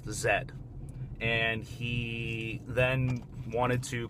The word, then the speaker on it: Z: City of Z, but in England they pronounce the letter Z as Zed, and that's just how they go about it.